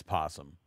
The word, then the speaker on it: possum: Is it possum or opossum? Listen, I grew up in Oklahoma. There may be an O, but as far as I'm concerned, the O is silent. It's possum.